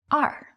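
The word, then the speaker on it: 二: or a phone number the number two is pronounced as r for example e are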